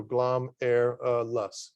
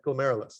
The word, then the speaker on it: glomerulus: called glomerulus okay and that's why it's spelled out like that so glom air lust okay glomerulus that's how you say it right um if any